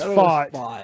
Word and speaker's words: Pfaadt: Fad T, if you want to just pronounce it the way they spelt it. Fott? It's Fott.